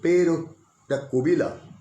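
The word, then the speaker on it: Pêro da Covilhã: একটা লোকের নাম বলি, পেরো দা কোবিলাম। এবারে পুরো উচ্চারণটা কীরকম পর্তুগিজ ভাষায়, এই লোকটি নামের উচ্চারণটা হচ্ছে পেরো দা কোবিলাম।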